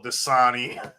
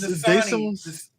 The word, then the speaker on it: Dasani: my one weakness, No, Freddie has an emergency bottle of Dasani.